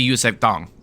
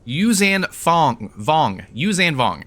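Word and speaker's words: Yuuzhan Vong: For the Force trainer, you do need Force Essence, which drop from the Yusef Thong. Let me look this up. I always pronounce this wrong. Yuzan Vong.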